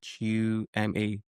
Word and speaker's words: Tshuma: Chuma is Tshuma. Spell it again.